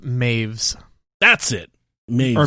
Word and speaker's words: Meiwes: have to go to according to wikipedia it's pronounced maeve's that's it or mavis yeah m-a-i-v-e-s is how the pronunciation is that's